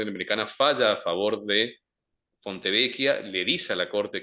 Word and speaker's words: Fontevecchia: Ese es el famoso caso Fontevecchia, que es un caso de derechos humanos, libertad de expresión. ¿Cómo se llama? ¿Caso? Fontevecchia, se escribe con dos C, Fontevecchia, Fontevecchia. Fontevecchia y D'Amico, D, apóstrofe, Amico, con C.